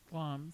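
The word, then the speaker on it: Glamis: right it's what's it called again the glamas glams glams glams castle spelled g l a m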